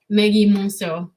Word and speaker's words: Maggy Monceaux: Maggy Monceaux.